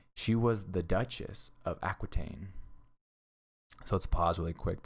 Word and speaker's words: Aquitaine: all right queen of france eleanor of aquitaine aquitaine right here is how you pronounce it was an extraordinary woman especially in